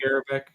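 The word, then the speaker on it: Garbarek: Jan Garabak, how you pronounce that? Garabak.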